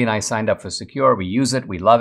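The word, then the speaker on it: Sekur: way yes there is secure it's spelled s-e-k-u-r offers secure instant messaging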